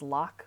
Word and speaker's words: LOC: You need to pronounce it, to pronounce /LOC as lock for it to scan.